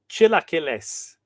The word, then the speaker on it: chilaquiles: I'm cooking red chilaquiles. Chilaquiles. Thank you for the pronunciation guide, by the way, Horacio.